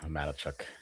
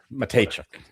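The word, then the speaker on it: Mateychuk: Dilly's pronunciation is way better than yours, Madachuk. Whatever. Matechuk.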